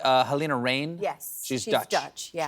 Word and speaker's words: Halina Reijn: Am I pronouncing this correctly? Halina Reijn.